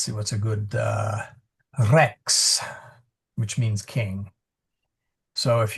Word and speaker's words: Rex: what's a good uh Rex, which means king. So if you say Christos Rex Christ the King, you want to roll that R to a little bit. Not too much, just a little.